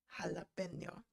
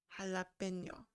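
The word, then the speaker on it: jalapeño: on to this one jalapeno so i know it's filled with j and i just made an h sound but that's how it is that's how it's pronounced jalapeno we're good okay so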